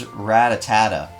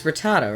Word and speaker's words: Rattata: was an idiot and thought it was like Ratatat for a long time I thought it was ratatata it's Rattata right something like that whoever